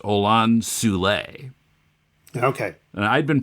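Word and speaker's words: Olan Soule: on and uh John said the name is pronounced Anan sule okay and I'd been pronouncing it ol Soul all this time but yes I had too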